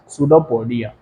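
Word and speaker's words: pseudopodia: like projection is called सूडोपोडिया silent होता है ना तो ये क्या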